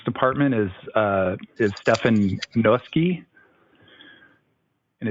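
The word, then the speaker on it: Noeske: the public works department is uh is stefan gnoski and it's spelled n-o-e-s-k-e and he is the development senior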